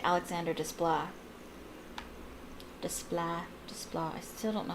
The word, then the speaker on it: Desplat: I know that his name is French, so you don't pronounce the T at the end, because there's no E after it.